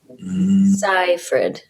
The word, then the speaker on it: Seyfried: of her last name if you're looking at it you take the ease out saifrid it's high fred but that's only how